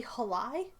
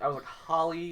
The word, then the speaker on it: Halai: By the way, it is kinda apparently Halai. Halai is how you spell it or pronounce it. Okay, because I was like Holly, holy, like I wasn't sure, but It is the Halai festival.